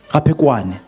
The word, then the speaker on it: Raphekwane: I pronounce it properly. Raphekwane.